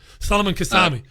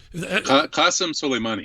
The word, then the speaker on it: Qasem Soleimani: of killing the Iranian general, how do I pronounce it, Kevin? Solomon Qassemi. Qasem Soleimani.